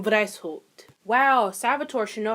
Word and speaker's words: Weishaupt: Is that German? Wow, it is German. Wow, I should probably fucking know that. So, the founder was actually Adam Weishaupt.